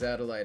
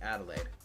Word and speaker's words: Adelaide: This is Adelide Hunt. She's a or wait Adelaide. Sorry, I don't know why I pronounced it like that.